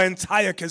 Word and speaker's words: Antiochus: These are our people that were scattered throughout Asia Minor, put there by King Antiochus, or Antiochus, some people pronounce it, the third.